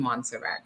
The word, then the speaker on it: Montserrat: I keep forgetting the T in Montserrat.